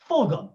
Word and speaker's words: Fulgham: Fulgham.